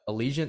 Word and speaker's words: Allegiant: they're gonna go into allegiant stadium is that how you say it yeah that's how you